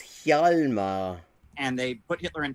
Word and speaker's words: Hjalmar: Hollimer, to rhyme with polymer, it's Hjalmar.